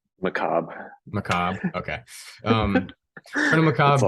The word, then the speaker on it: Macabre: I am pronouncing that right? Colonel Macabre? Macabre.